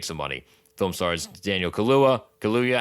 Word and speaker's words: Kaluuya: Film stars Daniel Kaluuya. How do you say his last name? Kaluuya or Kaluuya? Kaluuya, I think.